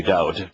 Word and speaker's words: Dode: But this individual, he's changed his name from David to Dode, so you get the actual pronunciation, lives in New Zealand.